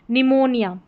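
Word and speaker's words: pneumonia: इसमें न करके इसको पढ़ेंगे। पी साइलेंट रहेगा इसमें। जैसे निमोनिया।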